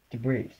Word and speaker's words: Debris: Debris. There is no S. The S is silent.